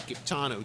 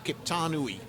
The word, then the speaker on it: Kiptanui: I call him Kiptano 2, or Kiptanui.